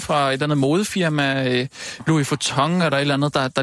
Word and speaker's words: Louis Vuitton: Hvordan udtaler man det? Louis Vuitton? Ja. Louis Vuitton? Louis Vuitton. Louis Vuitton? Louis Vuitton. Sådan siger Ulla.